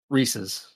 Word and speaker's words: Reese's: yeah you know Mark people have drawn the Line in the Sand about how you pronounce it but it's it's not it's not reesi Witherspoon that's all I say I've never heard that